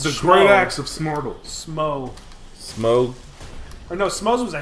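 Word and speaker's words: Smough: Because it's like though, but with, instead of a T, it's S-M.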